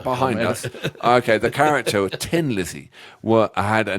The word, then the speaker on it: Thin: us okay the character Tin Lizzy what I had a name change for a play on the Irish accent 10 days pronouncing as thin as in ten Phil leinert was a